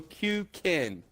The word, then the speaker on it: Kuken: is Jay goes fireball interesting he goes endo q king q King right it's not hard just look